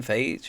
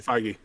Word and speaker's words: Feige: And two, I think is it his name Kevin Feige or something like that? Like Kevin Feige, Feige.